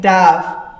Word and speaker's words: dove: it's a bird right dove d-o-v-e but the other word is also spelt d-o-v-e but we pronounce it dove he dove into the water see it's a homograph